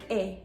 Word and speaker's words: est: by a consonant, and the only E that is pronounced is with the verb est. And this is because, like we talked about before, this is an exception. The S and the T are going to be silent, but the E is going to be pronounced as E.